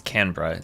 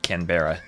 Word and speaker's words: Canberra: All I know is that the Aussies told me to pronounce it as Canra instead of Canberra.